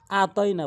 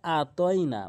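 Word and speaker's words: أعطينا: এখানে 95% লোক ভুল করে। আতনা বলে আতনাকা বলে। বলতে হবে আইনের উচ্চারণটি তারা অনেকেই বাদ দেয়। ভুল উচ্চারণ করার ফলে এভাবে বলে আতইনা বলতে হবে আতনা আতনা আইন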